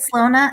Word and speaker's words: Slona: Slona, is that how you pronounce it? Slona. Yes, Slona.